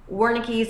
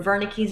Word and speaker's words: Wernicke: So in German, the W is pronounced as a V. So you can imagine it one of two ways. Either you're in Germany, you're talking to someone trying to say something in German, and they're like, "What are you saying?" Like they don't understand you. So with Wernicke's or Wernicke's aphasia, you don't know what they're saying.